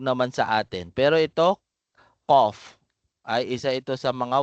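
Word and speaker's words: ق: ko ka ibig sabihin pinagkaiba nila ito po ay makapal bigkasin ko qof kaf kaf qof kaf malina po yan ito ay manipis kaf kaf kaf ito makapal kof qof qof naintindihan nawa ay naintindihan po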